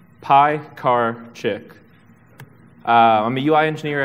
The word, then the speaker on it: Piekarczyk: anyway you're probably wondering how do you pronounce my last name p car chick uh I'm a UI